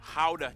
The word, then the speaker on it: Gouda: And the pride and joy of the nation, Gouda cheese. Yep, that's how you pronounce it, guys.